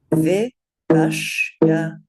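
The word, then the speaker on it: vipaśyanā: Okay, so this word is pronounced vipashyana, vipashyana, vipashyana. You'll hear it said very frequently as vipashyana. That's not correct. It's vipashyana. And three short syllables to start with.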